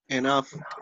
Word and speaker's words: enough: a few words there remember any other word in which a GH sounds like an F do you remember any word in which a GH sounds like an F the other one how do you say in English suficiente how do you say suficiente in English enough right this is one so like enough approximate